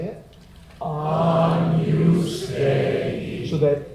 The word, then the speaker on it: Agnus Dei: Remember, the pronunciation is Agnus Dei. Say it. Agnus Dei.